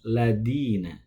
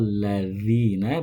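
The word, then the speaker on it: الَّذِينَ: Nah, siratal ladzina bukan ladina ya. Maka penting diketahui perbedaan mengucapkan huruf zal dengan dal. Yang betul adalah siratal ladzina bukan siratal ladina.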